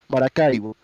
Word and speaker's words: Maracaibo: Sorry, I gotta switch from English to Spanish to pronounce it correctly. Maracaibo.